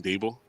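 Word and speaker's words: Daboll: they brought in uh gable that's as he pronounced his name dabel yeah i'm glad he brought him in for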